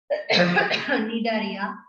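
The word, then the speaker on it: Cnidaria: So let us start our discussion with the Nidaria. See the spelling. The spelling is a bit different because C is silent over here.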